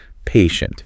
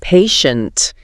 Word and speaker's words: patient: learn exactly so patient let's say it drawing out that first syllable little patient patient teachers need to be